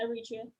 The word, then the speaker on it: Eritrea: Yeah, Eritrea.